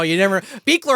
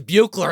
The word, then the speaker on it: Buechler: Beekler, I'm sure, referred to himself as Buechler at least once in history.